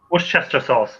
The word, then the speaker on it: Worcester: It's the sauce that no one can ever pronounce properly. Worcester. I was thinking James and Worcester. Worcester sauce.